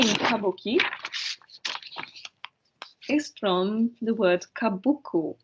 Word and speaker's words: Kabuki: uh after the class if you like so Kabuki the name Kabuki is from the word kabuku which means something